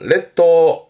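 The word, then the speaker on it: 列島: 섬도자 발음은 레토 레토 흔히 뭐 일본 열도 그러잖아요.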